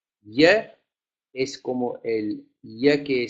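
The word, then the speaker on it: ja: el eje que después la j se pronuncia como el como el lic y del espanyol de otras naciones como en méxico por ejemplo no se dice yo se dice y yo ahora entonces la jota es como ese y entonces decimos ya para decir sí y si yo te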